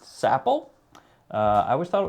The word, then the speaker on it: Sapil: It is pronounced Sappel. Uh, I always thought it was Sil.